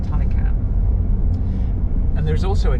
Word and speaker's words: Taycan: look at it says taken but it's actually pronounced thai cam and there is also a japanese word taken